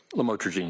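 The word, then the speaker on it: Lamotrigine: about the u the lamel otherwise known as lamatroine. Did I pronounce that right? Lamotraine.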